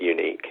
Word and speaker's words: Uniec: background about our business you probably wouldn't gather from how we spell the business name that we pronounce it unique unique prestige limited the